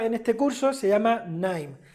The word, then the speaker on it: KNIME: este curso se llama KNIME. La K no se pronuncia, ¿eh? KNIME, no me digáis Kanime, ni Kanaim, ni nada. KNIME, ¿vale?